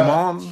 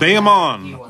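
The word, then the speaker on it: Bayamón: We'll just do a nice big Bayamon. Bayamon? Am I saying it right? Bayamon.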